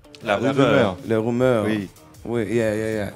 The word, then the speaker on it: La Rumeur: And then there's actually a group in France called, I never pronounce it properly, but it's The Rumor, Les Rumeurs. La Rumeur.